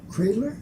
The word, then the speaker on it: Kreitler: we're going to be talking to Pat, I'm not sure I pronounced your last name right, Pat Kreitler?